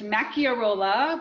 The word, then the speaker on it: Macchiarola: always get asked is how to pronounce my last name so it's Maki or Ola but I go by